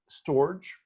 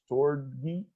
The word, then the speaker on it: storge: And then there is storge or storge or storgi, depends on how you want to pronounce it, which is the love of parents for their children.